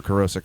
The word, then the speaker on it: Kerosec: Google and search for Kerosec or Kerosec, you'll find everything else pretty much. Okay. Very cool. Yeah, And Kerosec with a K. with a K, Yes. Like kerosene. K-E-R-O-S-E-C, Kerosec. pronounced like kerosene, Yeah.